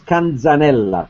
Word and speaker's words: Canzanella: My last name is Canzanella. It's an Italian name.